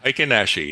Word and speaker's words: Heikin-Ashi: the real chart and the how do you pronounce it? Henashi. Hikenashi.